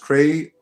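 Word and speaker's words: cré: Cre pronounced Cray.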